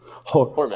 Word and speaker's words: Hormond: Hormond. Hormond. Hormond. I'm Hormond. sorry, I called So you you Herman. don't intend to pursue them, or you do intend to? There's an accent on the R. Hormond.